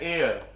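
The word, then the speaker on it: heir: एन आएगा और इसको पढ़ते हैं एयर।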